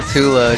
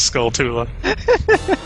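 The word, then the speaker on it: Skulltula: but I don't know I always say skula just cuz I want to say skula and you're not you're not my real dad yeah exactly boy you're going to have this pronouncing right um I'd like no son of mine says skull Tula I'd like to to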